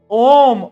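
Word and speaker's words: ohm: एच आता है बीच में। बोलते हैं ओम ही है। बट एच साइलेंट होता है।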